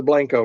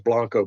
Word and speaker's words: Blanco: So anybody around Wimberley, Texas, go to the city community center, go to the Blanco room. It's spelled the right way to say it is Blanco, but in Texas they say Blanco.